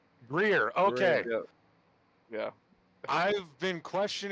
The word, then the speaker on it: Greer: time I think you have been the one pronouncing it correctly it's Greer Greer okay yeah I've been question questioning myself because